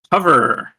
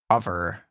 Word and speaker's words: Hover: 32nd game I have hover hover hover Rhymes it rhymes with Glover is this the weird